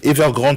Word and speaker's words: Evergrande: et la firme evergrande c'est pas ça se prononce comme ça evergrande numéro deux du secteur donc immobilier dans le